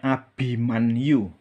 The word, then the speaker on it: Abimanyu: Ya, jadi kalau bahasa Sanskerta itu namanya Abimanyu ya.